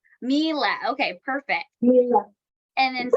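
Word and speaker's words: Miele: I think it's I don't want to mispronounce it, but Mila rhymes with Sheila. Mila.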